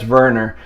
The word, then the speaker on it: Werner: a 2018 teemo verner he is german so i'm assuming that's that's verner and for all you